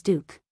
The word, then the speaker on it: Duque: In my hometown, the pronunciation of Duque is Duke.